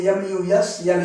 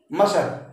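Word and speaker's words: muscle: तो मसल देखिए, MUS है, यस के पहले सी, इसके ठीक बाद सी आ गया, माने सी के पहले यस है, तो यहाँ पर आप सी का उच्चारण छोड़ देंगे, MUSLE ही बोलेंगे, लिखेंगे सी, लेकिन जब भी आप प्रोनाउंसिएट करेंगे इसको तो प्रोनाउंसिएशन आपका होगा MUS। सी को आप मानेंगे साइलेंट, उसका उच्चारण नहीं पढ़ना है, LE तो बोलेंगे मसल मसल मसल।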